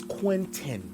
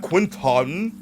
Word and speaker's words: Quentin: My name is Quentin. Quentin. Not Quinton, not Quentin, Quincy. How do you see Quinton and you still call me Quincy?